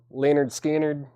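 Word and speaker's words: Lynyrd Skynyrd: a warm up see you guys Leonard Skynyrd pronounced Leonard Skynyrd if you're tread it's 38.99 Music On Vinyl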